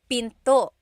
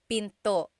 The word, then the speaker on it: pinto: And remember, don't forget the glottle stop. Don't forget to stop the sound at the end. That's called a glottle stop. Pinto. It's not pinto, it's pinto. Stop it at the end.